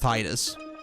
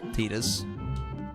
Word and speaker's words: Tidus: I've always like pronounced Tidus, like with the tide, but I guess Tidus. I guess that makes sense too.